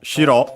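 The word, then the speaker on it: 城: Uh uh so yeah, it's the same uh shiro uh is an accented uh by the way do not confuse it with uh shiro that one accented on the first syllable.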